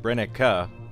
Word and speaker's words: Brenneke: And of course, Brenneke is from Germany, and if you're in Germany, you probably pronounce it Brenneke.